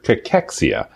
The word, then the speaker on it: cachexia: It's cancer cachexia.